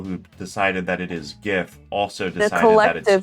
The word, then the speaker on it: GIF: To say that the Collective collective consensus is it's GIF. no. But they're trying to be nice and say Jiff because that's what he wanted, but I think he's just trolling.